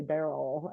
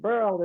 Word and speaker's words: Beryl: So yeah, I know that like I've always pronounced her name Burl, like Pearl, and they seem on the news to say Beryl, and Oh, did they? Oh, okay. that is what I've heard. But Burl is the right thing for her.